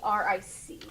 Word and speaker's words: Favric: With a K though, not a C. Okay. Favric.